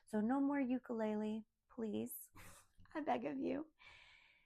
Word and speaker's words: ukulele: So it's not a ukulele, it's an ukulele, the ukulele, my ukulele, right?